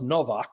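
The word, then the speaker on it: Nowak: It's pronounced Novak, like a V there, but spelled with a W.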